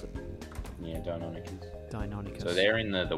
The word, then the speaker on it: Deinonychus: Is that how you pronounce it? Yeah, Deinonychus.